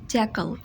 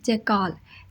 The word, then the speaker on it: jackal: English में कहते हैं जैकल। अब इन एनिमल्स को भी बहुत कंफ्यूज किया जाता है। सेकेंडली, जो जैकल वर्ड है इसको बहुत मिसप्रोनाउंस किया जाता है। इसको अक्सर लोग बोलते हैं जैकाल।